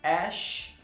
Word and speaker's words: Æ: O X você vai pronunciar conforme é em inglês mesmo, X, esse Azinho com E aí você vai pronunciar com o som de ash, e o A, o A, que é o som do A, né, do A em inglês, e o 12, 12.